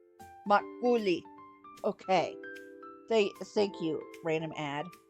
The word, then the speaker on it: makgeolli: How do you say it? Makgeolli. Makgeolli. Pretty straightforward once you know. Makgeolli. Makgeolli. So it's a K. The G is basically silent. Makgeolli.